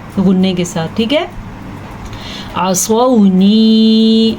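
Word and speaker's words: عصوني: عصونی، عین زبر ع، صاد زبر با، سو، عین کا تلفظ اور صاد پر پڑھنے کا تلفظ، اس کا آپ نے خاص دھیان رکھنا ہے۔ تو آپ اس کو کیا پڑھیں گے؟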